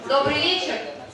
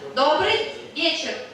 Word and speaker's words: добрый вечер: So later, like in some several hours, when we gonna have an evening, we're saying добрый вечер. Okay, once again, добрый вечер.